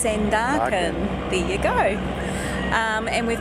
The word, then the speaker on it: Sandakan: Found out we've been saying it wrong all this time. It's not Sandakan, it's Sandakan.